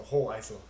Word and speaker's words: Hoheisel: But my grandma tells me the second H is silent, so Hoheisel.